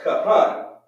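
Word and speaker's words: כהן: pure language right and this word right here is actually pronounced cut hun if we say it phonetically which means priest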